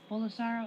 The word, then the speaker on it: Bolsonaro: Bolsonaro.